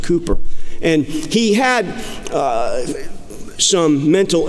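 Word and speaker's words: Cowper: famous hymn writer named William Cooper cewper Burgess pronounced Cooper and he had some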